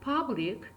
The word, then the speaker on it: public: The word public is 2 syllables word. So first syllable is stressed, public. From the pronunciation you can see the public. The first syllable is stressed, so we indicate this first syllable with dash, but the second syllable is unstressed, so we have to mark this unstressed syllable with dot.